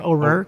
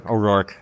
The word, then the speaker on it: O'Rourke: pronounced your last name oror oror oror you're very close I'm asking everybody about their last name roar like a lion that's what I people